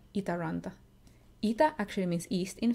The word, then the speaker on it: Itäranta: it around or with the English are sound eat Aranda ETA actually means east in finish and run